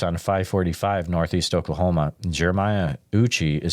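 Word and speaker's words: Eucha: Randy writes on 545 Northeast Oklahoma, Jeremiah Uchi is spelled E-U-C-H-A.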